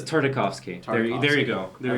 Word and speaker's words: Tartakovsky: Tartovsky. It is Tartovsky. No, okay. It's not Tarkovsky, but No, it's it's not Tartovsky. It's Tartakovsky.